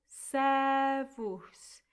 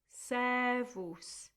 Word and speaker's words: servus: And then 2 syllables. Servus. It's like the same sound as you had with terminum earlier on. Servus.